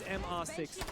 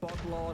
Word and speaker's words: MR6: That is the correct way to pronounce it. So it's not Botlaw, not Mr. It's not Mr. Botlaw. It's not Mr. at all. It's MR6. They say it in Portuguese. They spell out.